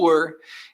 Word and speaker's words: were: Então, ó, o was e o were. Então, sempre no inglês o W é som de U, o E final a gente nunca vai pronunciar e a gente capricha nesse R, né? Usa esse R, né?